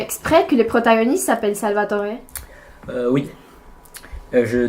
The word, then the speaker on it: Salvatore: Et la deuxième, c'est parce que mon deuxième prénom, c'est Salvatore. Ouais. Comment on prononce en italien? Salvatore.